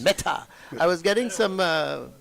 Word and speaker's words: Mehta: And is it Mehta? M-E-H-T-A? Wait, let me hit. Metaverse, like the metaverse. Meta.